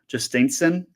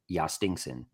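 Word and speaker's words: Jhostynxon: Justen Garcia. How bad was that? Good enough for me. Just to spell it, it's J H O S T Y NX O N. Yastinson.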